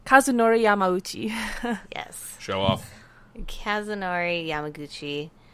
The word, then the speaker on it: Kazunori Yamauchi: of gran turismo um I'm gonna have Robin pronounce this for me o Kazunori Yamauchi yes show off Kazunori Yamauchi are Yamauchi llamo